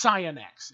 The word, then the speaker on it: Cyanex: feel like that's saying cyanex I remember when I first got this weapon I I once said Cyanide by accident because of how that's pronounced but it's cyanex it's not cyanide everyone's safe there's no